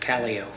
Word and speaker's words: Calo: last name properly C last name is pronounced calo calo calo is that right